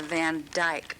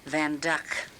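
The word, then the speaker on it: Van Dyck: People will say it's a Van Dyke, but it's pronounced Van Duck.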